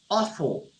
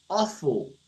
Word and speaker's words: awful: E aí, quando você olha do lado esquerdo, você tem awful. Tá? Vou te dar uma dica de pronúncia. Esse AW aqui, ó, ele tem som de O.